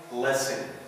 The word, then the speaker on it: listen: ولكن في بعض الكلمات ايضا بنشوفها صامت silent like in listen listen whistle. We don't say listen we don't say whistle. ما بنقولش هنا listen ما بنقولش whistle. هنا حرف التي silent يكتب ولا ينطق.